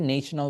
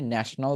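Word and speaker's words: national: আর ন্যাশনালকে নেশনাল বলা দরকার নেই, ন্যাশনাল বলবেন। আর এটাকে নেশন বলবেন, ন্যাশন না।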